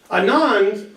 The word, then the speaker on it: Anand: many losses zero zero Anand or Anand if you want to pronounce it right which you don't he